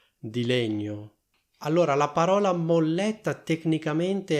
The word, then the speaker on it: molletta: Molletta ha due L e due T, quindi fate attenzione alla pronuncia che è molletta. Quindi si sente chiaramente che c'è una L doppia e una T doppia.